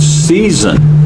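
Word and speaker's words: seisin: Just remember how to say it. Season.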